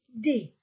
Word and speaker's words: des: Je ne prononce pas le S. Et avant le mot, devant le mot, je mets un devient des.